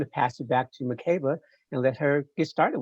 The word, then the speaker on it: Makeba: of my life 49 this is the first time that you are hearing someone pronounce it as mccabe my name is swahilin and then the swahilian dialect that's how you pronounce it so if you call